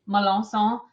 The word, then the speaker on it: Melancon: Malans. Um, I'll spell it for you.